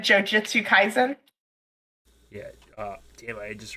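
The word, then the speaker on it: Jujutsu Kaisen: jigsaw puzzles at all have you ever watched jujutsu kaizen this is caspian's question sorry i had to make sure i was pronouncing this right jujutsu kaizen i have it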